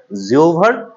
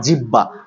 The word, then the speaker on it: জিহ্বা: উচ্চারণের জড়তা দূর করার জিওভার ব্যাম এটা কিন্তু জিভের বলেছি বা জিওভা বলা যায় জিভের বা জিওভা নট জিহ্বা নট জিহ্বা ঠিক আছে জিওভা বলবেন বা জিব বলবেন তো এখন এই যে